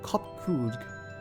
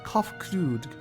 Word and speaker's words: Kopkrudg: As for nomenclature to address my individual person, I believe it will be pronounced Kopkrudg. Yes, Kopkrudg of the Ia.